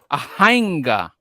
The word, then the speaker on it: Jainga: it again okay yeah ahanga because I thought I I thought it would be pronounced like Jenga you know like that